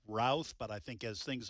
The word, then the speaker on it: Routh: The suspect has been identified as Ryan Ruth. Some in the media are pronouncing it Routh, but I think as things unfold, he is in court.